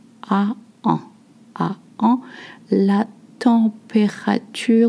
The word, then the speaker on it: température: La température. We say all the syllables. La température.